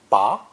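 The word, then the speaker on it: 把: Ba, pronounced with a rising tone, ba, means to pull out or extract. Ba, with a low dipping tone, ba, means to grasp something. And ba, spoken with a sharp falling tone, ba, can mean father or papa.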